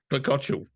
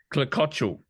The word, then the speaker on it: Klecociuk: Klecociuk. Oh, say that again. Klecociuk. Klecociuk. So you don't really say the final K?